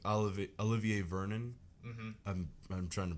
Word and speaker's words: Olivier Vernon: liked him coming off College besides like oliv Olivier Vernon mhm I'm I'm trying to pronounce that correctly you're correct yeah okay I